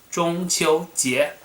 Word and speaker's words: 中秋节: will still call it 中秋节 in Mandarin. If you want to remember the pronunciation, 中 first tone, 秋 first tone, 节 second tone, 中秋节, which I'm going to